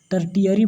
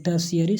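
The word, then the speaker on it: tertiary: इसको कितने student टर्टियरी बोलते हैं कुछ करके, लेकिन टर्शियरी सेक्टर ओरिजिनल प्रोनाउंसिएशन होता है।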